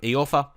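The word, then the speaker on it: Iorfa: I kind of, checked it after the last couple of episodes, and it's E. Orfer.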